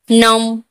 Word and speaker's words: gnome: नम, नम, GNOME, नम ने भी एन से पहले जी है, जी जो साइलेंट है, जी यहाँ पर नहीं उच्चारण हो रहा है, यहाँ पर क्या पढ़ेंगे हम?